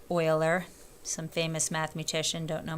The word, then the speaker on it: Euler: about the number E it's known as Euler's number that's how you pronounce Euler some famous mathematician don't